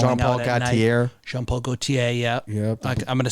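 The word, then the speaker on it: Jean Paul Gaultier: Jean-Paul Gaultier, yeah.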